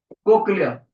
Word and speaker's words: cochlea: नाम होता है कोक्लिया, कोक्लिया। स्पेलिंग देख लो ध्यान से, COCHLEA, कोक्लिया। क्लियर है बेटे।